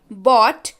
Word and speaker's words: bought: बाय, बॉट, बॉट, buying. और ध्यान रखिएगा इसको बॉट पढ़ते हैं.